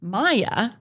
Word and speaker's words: Mia: mia m which is spelled m-i-a and then has it pronounced maya m-y-a it's like why wouldn't